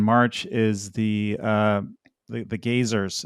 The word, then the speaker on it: Gazers: is the uh the gazers it's called the geysers but it's spelled g-a-z-e-r it's the name of